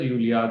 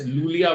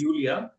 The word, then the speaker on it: Iulia: people who said no, her name is pronounced as Yulia. There are some people said it's Lulia Vântur. I said don't confuse me right before the interview because what I heard is it's Yulia, and I'll confirm it myself with her.